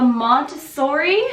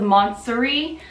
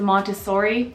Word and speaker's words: Montsouris: here here it is this is the montessori i think i'm saying it correctly this time i don't know in the luxury wishlist video i called the monstery but i heard someone else say it's the montessori so whatever it is it is the bb